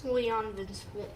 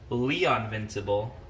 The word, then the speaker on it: Leovincible: Now, I recently learned, Charlie, that I've been saying this person's name wrong. It's Leovincible. No, it's Leovincible. Not Leovincible at all. That's name butchering you got right there. I've been calling him Leonvincible.